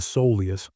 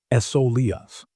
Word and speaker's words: soleus: Deep inside your lower leg sits a powerful muscle called the soleus, pronounced soleus.